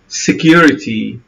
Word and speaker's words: security: تمد شفتين للأمام poverty, security. طبعا لاحظوا النطق الامريكي دائما يتجاهل التي ينطقها شبيهه بالد يقول لك poverty, security لكن يعني بالنسبه لنا اقرب لنا النطق البريطاني افضل لنا لانه يحقق حرف التي security it's up to